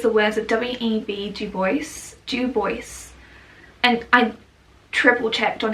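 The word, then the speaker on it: Du Bois: going to use the words of w.e.b dubois due voice and i triple checked on how to pronounce that name it refers to the dual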